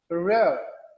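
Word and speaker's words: rare: First आर को pronounce करेंगे, second को साइलेंट करेंगे। रेयर, R-A-R-E, रेयर।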